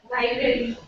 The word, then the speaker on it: library: makes jewelry doesn't make jewellry okay this one library library or Library Li the a pronoun a syllable is not there a pronounce sound is